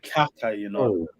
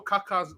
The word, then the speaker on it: Kaká: I said Kaka, Now watch the Kaka.